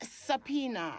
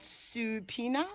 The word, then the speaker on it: subpoena: name of the documents so it's subpoena not supina as i heard the other day oh dear god no